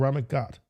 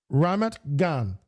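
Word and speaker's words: Ramat Gan: world is in Israel in a place called Rammit Gut. Rammit. Uh, let me see if I pronounced that correctly. Okay, there we go. Rammit Gan the capital of diamonds the home of diamond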